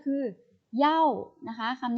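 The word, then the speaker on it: 要: กัน นะ คะ อัน นี้ ออก เสียง ว่า เหย้า เหย้า ๆ แปล ว่า อย่า หรือ ต้องการ นะ คะ อย่า หรือ ต้องการ คะ เหย้า โอเค ไป ค่า เสีย อีก ก็ เข้า นี้ วิธี การ ใช้ ก็ คือ เหย้า นะ คะ คำ นี้ ตาม ด้วย กริยา ค่ะ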